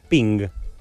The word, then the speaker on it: PNG: llaman por teléfono además los creadores del formato de archivo png si querían que se pronunciara ping ok es un archivo